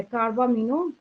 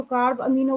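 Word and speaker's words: carbamino: तो उस हीमोग्लोबिन का नाम हो जाता है कार्बामिनो, या तो कार्ब अमीनो बोल सकते हैं, कई बच्चे इसको कार्बामिनो बोलते हैं, कई बच्चे इसको कार्ब अमीनो बोलते हैं, एक ही बात है, ठीक है।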